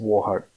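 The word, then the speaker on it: Wauchope: in 1949, claims the town name to be Walkup, but I'm reliably told by Wikipedia it is pronounced Warhope.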